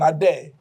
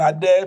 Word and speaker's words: Adair: He's called Stephen Adair. Like my Stephen Adair, pronounced the same except that it's spelled differently. His is A D A I R.